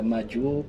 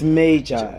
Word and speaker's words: Majoer: Is it major, Majoer? No, it's major.